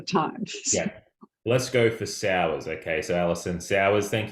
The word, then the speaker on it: Sauers: I think I said Sawyers before, but I'm It- wondering. which, which is fine. It's actually Sauers, but Sauers.